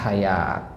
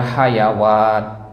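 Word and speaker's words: حياة: anaranya kata Hayat Nah jadi kalau ketemu kata hayat nanti dalam mushaf Madinah pakai wau dia tapi wwya itu sebenarnya adalah apa Alif begitu ya nah jadi jangan dibaca hayawat bukan Hayat bacanya Nam riba nah nah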